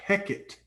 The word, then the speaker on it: Heket: But the god, and I'm looking at the name now, it's pronounced Heket, was often portrayed and was always portrayed with the head of a frog.